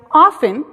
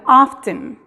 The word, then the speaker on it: often: Mucha gente lo pronuncia often, donde la T es muda. Mucha gente lo pronuncia often, donde la T no es muda.